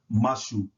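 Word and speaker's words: مشى: The letter me is hard, so that's pronounced mashu, mashu, mashu, and that means to walk.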